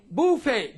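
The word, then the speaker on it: buffet: I'd be eating not serve it so obey Buffay be uff ET and so on these are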